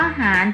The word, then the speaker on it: หาญ: ว่า จาน นะ คะ คำ ว่า หาญ ถึง แม้ ว่า ร เรือ สะกด แต่ เวลา เรา เขียน คำ อ่าน เรา ก็ จะ เขียน ด้วย มาตรา อ่าน ด้วย มาตรา แม่ กล นะ คะ คำ นี้